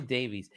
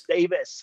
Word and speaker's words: Davies: Why do I say Davies? Because Americans saying that for like 12 He's Welsh, years. It's Davis.